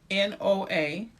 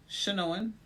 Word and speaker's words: Chenoa: Chenoa. So it's an N at the end? It's an N in the middle. CHENOA.